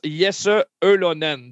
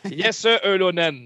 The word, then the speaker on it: Jesse Ylönen: Effectivement, on le prononce Jesse Ylönen. Donc, le Y se prononce E. Mais c'est pas un E, c'est E. C'est comme ça. Jesse Ylönen.